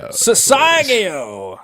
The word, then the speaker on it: Sasagio: we're gonna have uh sasagayo if I'm pronouncing that correctly sasagio thank you thank you and Then